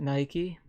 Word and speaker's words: Nike: Nike that's pronounced two different ways around the world but if you're in America you pronounce it Nike and I'm using the American Standard English so